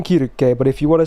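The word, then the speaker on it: Circe: a while right all right let's talk about Cersei or Kira k as I call her and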